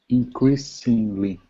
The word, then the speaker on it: increasingly: Increasingly. Always. Increasingly. Thank you. Don't pronounce G, letter G. Ing. Right? So it's ing. You don't pronounce the G like J. It's just ing.